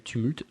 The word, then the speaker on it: Tumult: de podcast qui s'appelle Tumult. Donc c'est bah comme ça se prononce comme en français mais sans le e à la fin.